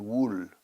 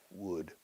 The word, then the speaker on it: would: No se dice la L de would I would like. Es súper muda siempre, nunca. No me digas, no quiero oírte decir wool.